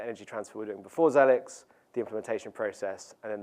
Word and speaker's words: Xelix: x e l iix no one knows how to say it um but you can call it what you want some people call it zelix some people say Exel X we call it zelix um and we call